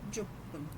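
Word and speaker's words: じゅっぷん: के numbers dark हुए, वहाँ पे उनका प्रोनाउंसिएशन अलग है। ओके, इपुन, रुपुन, हपुन और जुपुन।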